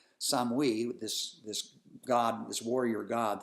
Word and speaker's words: Samhain: And a lot of Celtic people switched from Samhain, or Samhain, which is how they pronounced it, Samhain, this god, this warrior god that they had been celebrating, and went to Christianity.